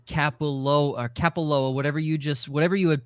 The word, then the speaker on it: Kapalua: It said Kapalua, whatever you had pronunciated it as the slow version, and the fast version felt all together.